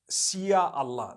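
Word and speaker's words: insya Allah: If you look at, the Malay language, they write in Sia Allah, the S-Y-A. They pronounce the S-Y the way we pronounce S-H. So they can write it how they want, for as long as when people read it, they read it INSHAALLAH.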